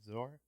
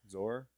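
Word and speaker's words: Szohr: saying that name wrong Zar zor zor Zar it's like it's like s z o r I believe zor Z yeah yeah she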